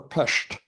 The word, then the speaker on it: Pest: The other great city where fighting was intense was at Budapest or Pesht depending on how one likes to pronounce.